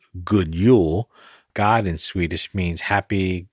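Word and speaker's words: God jul: can be translated as good jeul fanatically it's pronounced good Yule God in Swedish means happy good Merry while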